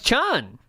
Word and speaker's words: Spike Chunsoft: It looked like Chun. Yeah, Time Chun. They also own a large amount. It's pronounced Reuters.